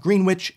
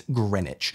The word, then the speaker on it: Greenwich: Subic you know yes it's not green witch it's Greenwich and if you see this